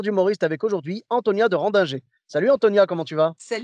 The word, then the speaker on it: Rendinger: Non, c'est Antonia de Randinger.